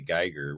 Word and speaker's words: Geiger: the name of Geiger which is spelled GUI G AR I used to always tell people it was like guitar with a G so I had a